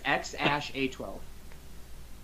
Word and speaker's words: X Æ A-12: it goes and then the AE combination he said that's pronounced ash and then it's just a twelve literally this kid's name is ex ash a twelve no way thank you